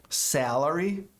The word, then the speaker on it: salary: Salary, salary, esse A da primeira sílaba tem som longo, salary.